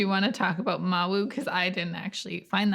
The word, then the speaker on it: Mawu: the west african tradition addresses the the great creator goddess as mau or mahu i find mahu a little easier to say but mawu i think is actually slightly more common pronunciation and thanks to